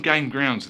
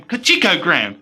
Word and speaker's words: Gain Ground: this game now however i had trouble pronouncing this game at first where this does look like a j instead of an i so all this time i've been pronouncing this game kachiko ground instead of game ground so yeah who bright